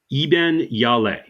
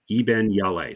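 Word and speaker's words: Iben Hjejle: foreign films all right so her name is pronounced e yal Eben yal yes Eben yal so it's like h j e jle e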